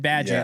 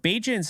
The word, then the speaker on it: Bagent: They're hostile if you say that name wrong. I said Badgett and they came at me, but this is somebody